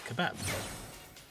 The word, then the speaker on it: kebab: How else would you pronounce it? It's kebab. K-E, bab, B-A-B. Kebab.